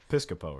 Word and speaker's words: Piscopo: How you pronounce that? Pretty Coleman? close. Piscopo, right?